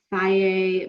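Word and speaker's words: Fage: So, you know, Faye makes one, it's spelled F-A-G-E. Took me maybe 5 years to learn how to pronounce that.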